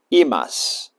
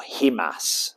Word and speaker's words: himas: that right there is a soft imas uh or himas as it might be called in uh in English pronunciation but it's called an imas and a pair are